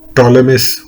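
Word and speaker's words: Ptolemais: य ये जगह है इंग्लिश में यह देखिए टोले मिस होगा पी ज्यादातर साइलेंट रहता है यहां पे लेमिस में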